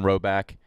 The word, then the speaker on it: Rhoback: little nod every time we see someone rocking Roback because we know they get it.